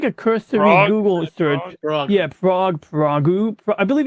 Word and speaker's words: Prague: you're here you're you're near prag prag I'm sorry how do you say that again prag Prague Prague okay so you you're near